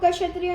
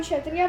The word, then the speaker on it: क्षत्रिय: इसको क्षत्रिय नहीं बोलते कि ये साइलेंट है, इसको क्षत्रिय बोलते हैं।